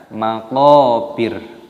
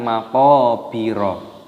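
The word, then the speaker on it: مقابر: panjangnya dua ketukan, matobi'i, dan roknya di sini dimatikan ataupun disukun, dibaca maqabir, bukan maqabiro.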